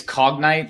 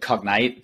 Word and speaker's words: Cognite: of your company correctly it's cog night you said cognite but it's fine like it happens all the time you know the the